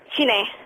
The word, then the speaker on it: Sinead: Sinead? Hello. How do you say your name? Shine. Sinead?